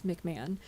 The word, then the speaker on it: McMahon: by Sharon McMahon um it's spelled MC um m a o n spelled like McMahan but it's McMahon um she is fantastic and